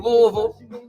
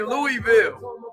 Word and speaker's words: Louisville: Hey, Charity checking in from Louisville. You didn't think I knew how to pronounce that. I used to say Louisville until I met enough people from Louisville.